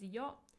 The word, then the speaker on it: よ: It's pronounced as yo.